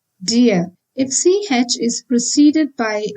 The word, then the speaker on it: dir: Similarly, dir is not dir, like in English, but then dir.